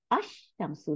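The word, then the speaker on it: الشَّمْسُ: ওই যে আশ শামসু, লাম উচ্চারণ করি নেই, কিন্তু লামের বদলে ওই যে অক্ষরটার উপরে সাদ্দা দিয়ে দিছি, কারণ লামটা গিয়ে ওই অক্ষরটাকে সাথে যুক্ত হয়ে দুইটা অক্ষর বানাই দিছে, বানাইয়া ওইটাকে সাদ্দা করে দিছে, তাহলে আশ শামসু।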